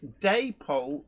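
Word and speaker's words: Dapol: says is deole pronounced day Poole or dap as in apple Paul um apparently both pronunciations are okay but it it was originally a contraction of David and Polly doy Bo I think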